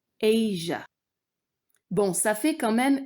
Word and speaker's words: Asia: Ensuite, Asia se prononce non seulement avec long A et non pas comme Asie en français, mais en plus, le son J vient remplacer le son Z. Asia.